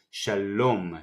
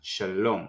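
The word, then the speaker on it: שלום: Kamatz, A vowel, sound like the U in the word sun. A, Sha, and with the Lamed, you can say sounds. You can hear the sound O. Shalom, Shalom.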